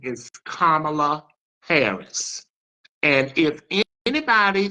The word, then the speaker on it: Kamala: Again, her name is Kamala Harris, Madam Vice President, not Kamala, Kamala, as in a comma, Kamala Harris.